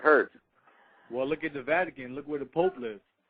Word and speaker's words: Vatican: Well, look at the Vatican. Look where the Pope lives. Absolutely. It's just look where he lives. Yeah, no, it's not vacation. It's not vacation. It's Vatican. You pronounce it wrong.